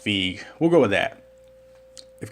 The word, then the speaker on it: Feige: Like, when Kevin Feige or Feige, I think they said his last name is pronounced Feige.